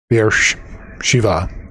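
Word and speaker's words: Beersheba: Beer Shiva. Okay. So, not Ba, but VA. Okay. Beer Shiva, which it's Abraham.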